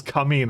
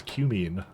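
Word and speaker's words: cumene: initially mispronounced things like I called this cine at one point because that's what I thought it was but apparently it was cumine I had to sometimes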